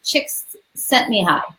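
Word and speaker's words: Csikszentmihalyi: way because she also gave the way to pronounce it. And so that is the name. And it looks like it's Chicks Sent Me High.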